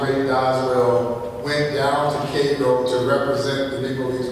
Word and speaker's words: Cairo: Now, I know it's spelled Cairo, but we Georgians get a little upset if you call it Cairo, Georgia. It was Cairo, Georgia, and the home of Cairo syrup.